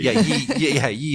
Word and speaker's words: ye: Ye oldie shoppy, Pike and Shotty. So the Y in ye was actually pronounced TH, so we write ye, but it would still have been the old shop.